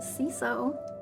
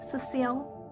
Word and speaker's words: Cecile: slide I know that some people call me ciso but my name is pronounced Cil and here is my faux